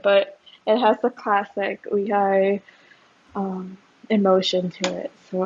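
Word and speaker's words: Lee Hi: Lehigh. How do you say your name? So she Because released, it's either Lee or E, and yeah, I think in Korea it's technically E, yeah, but of course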